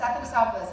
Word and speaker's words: Athanasopoulos: This is Athanasopoulos. Yeah, Athanasopoulos. Athanasopoulos, I've heard you say it.